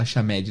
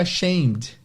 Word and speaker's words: ashamed: Eu até tinha pensado assim, parece meio árabe essa palavra Achamed, né? Parece nome de gente árabe. Ele falou, que legal, mas a pronúncia é ashamed.